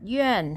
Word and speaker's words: 院: And for the word yuàn also has only vowel sound. U with the dot, A and N pronounced as yuàn, yuàn.